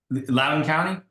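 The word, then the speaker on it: Loudoun County: the community that you were from how's it pronounced lden County yeah okay lden County yes well known they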